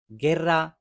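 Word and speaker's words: guerra: लेकिन जब दरम्यान में यू आ जाता है, बेशक ये साइलेंट है, हम इसको गे पढ़ेंगे, गे। जिस तरह से गेर्रा, इगेरा, अल्बेर्गे या गेतो।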